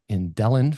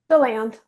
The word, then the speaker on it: DeLand: She's currently in practice in DeLand, Florida. Did I pronounce that correctly? DeLand.